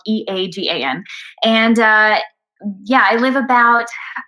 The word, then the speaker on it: Eagan: And now I'm like pals with Susan Egan, going like, it is spelled differently. My town though is called Eagan.